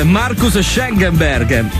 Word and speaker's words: Markus Schenkenberg: Si dice Schenkenberg, Markus Schenkenberg.